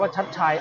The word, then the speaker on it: ชัชชัย: มวย มอง อนาคต ครับ ยก นี้ อ่าน ว่า ชัด ชัย อาจ จะ ตี ได้